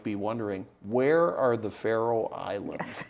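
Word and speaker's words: Faroe: you going and spell it's spelled f a r o e yes Pharaoh Islands Pharaoh Islands is um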